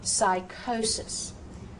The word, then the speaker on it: psychosis: Psychosis, psychosis. Now again, look at the beauty of how the rules are going. There's that CH. CH is a K sound. So psychology, psychology, psychosis.